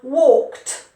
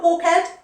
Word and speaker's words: walked: breath washed washed and walked walked walked i walked the dog this morning i walked the dog it's not walk head watch ed or wash head no no no big mistake so that pronunciation for